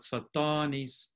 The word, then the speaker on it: Satanis: So we have Satan with a long stressed vowel in the first syllable, but Satanis with a long stressed vowel in the second syllable.